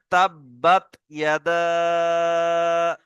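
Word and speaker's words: تَبَّتْ يَدَآ: তাব্বাত ইয়াদা।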